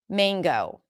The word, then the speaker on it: mango: is written with a, but before ng, this is the case. Mango, mango, mango.